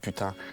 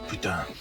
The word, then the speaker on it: putain: The best part of the voice acting was trying to make everybody say merde and putain.